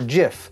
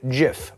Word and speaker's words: GIF: over the proper pronunciation is it gif or jif but while the oxford dictionary says both are okay will heights says it's unquestionably jif with a soft j but his favorite gif